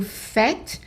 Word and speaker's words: faites: And then vous faites. Again, we're going back to the AI as an A. So this one is an exception. The nous. Vous faites. Not pronouncing the ES.